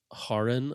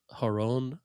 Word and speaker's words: Haron: Then the Bible one is like the Middle Eastern version which is Harin or Haron. Yeah. Like H A R O N. The original Hebrew word.